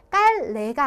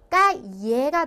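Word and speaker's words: calle: 그래서 얘를 이렇게 엘레가 두 개가 나와 있는 경우에는 얘를 Y로 바꿔서 발음을 해준다고 생각을 하시면 되세요. 그래서 깔레가 아니라 까예가 돼야지 정확한 발음이 된다라는 거고요.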